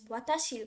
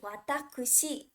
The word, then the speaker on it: 私: is usually pronounced as watashi right but the official reading for this kanji is actually watakushi did you guys know